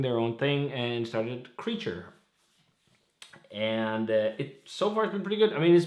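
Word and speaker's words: Kraecher: some more beer from creature and that is how you pronounce the name of this brewery not cracker as i said in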